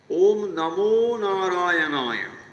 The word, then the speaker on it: ওম নমো নারায়ণায়: স্বামীজি ওম নমো নারায়ণায় মোকারটা ঋষিকেশী ঢঙের উদাত্ত করে নিয় ভায়া এই যে নম এই ম উচ্চারণটি উত্তর ভারতে একটু জোর দিয়ে উচ্চারণ করা হয়। ওম নমো নারায়ণায়।